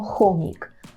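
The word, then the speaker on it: chomik: - це хом'як і хом'як ми скажемо хомік Хомик так хомік пишемо через cх знову ж таки можемо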